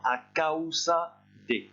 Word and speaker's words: a causa de: Vous pouvez à ce moment-là utiliser l'expression a causa de. Par contre, vous faites attention à bien prononcer le A et le OU séparément. A causa de.